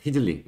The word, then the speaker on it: Riesling: 리 리슬링 그 그니까 그 알 발음이 이제 프랑스에서는 사실 우리나라로지면 히읗 발음이에요 히읗이 약간이 목 이렇게 막 막 막 약간 이런 느낌이거든요 그러니까 휘슬링네 휘슬링 여기 발음은네 아 박현수님